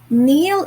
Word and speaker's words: kneel: word neil you're right neil is spelled as k n e e l if you have noticed not all letters were sounded k was silent it wasn't red at all so it was just